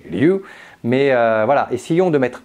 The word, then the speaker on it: ryu: du karaté parce que le r se dit l au Japon comme lu d'accord c'est pas Ryu c'est lu mais voilà essayons de